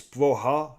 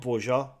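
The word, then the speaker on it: Broja: Uh and and I've been told I've been told by um an Albanian subscriber that it's Boha, not Bourja. Bha. The J is silent.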